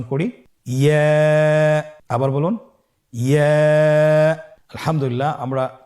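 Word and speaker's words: ياء: ইয়া হরফটি উচ্চারণের ক্ষেত্রে বারিক হবে এবং 1 আলিফ টেনে পড়তে হবে। ইয়া। আবার বলুন ইয়া।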